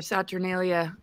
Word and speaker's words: Saturnalia: 25th I think that was it's mid December saturnalia and it is about the satalia thank you